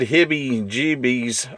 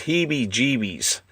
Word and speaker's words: Heebie-Jeebies: I think I mispronounced this last time I advertised this one, but I think this is, I said Hibby-Jeebies. I think it's Heebie-Jeebies.